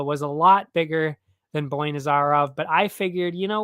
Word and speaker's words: Boynazarov: Yeah, Boynazarov.